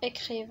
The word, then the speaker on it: écrivent: وكذلك ENT هنايا ما كتنطقش، ما كنقولوش les enfants écrivent وانما كنقولوا écrivent. نشوفوا واش كنقولوا les élèves remercient leur اولا leur professeur.